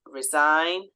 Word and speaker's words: resign: need to remember um words such as resign rain have that silent G okay so these are